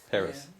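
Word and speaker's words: Peres: They always mispronounce Perez's name. Who? Perez. Yeah, Paris. Perez, they Yeah, say they say Perez. Perez, they make it sound Spanish. Spanish.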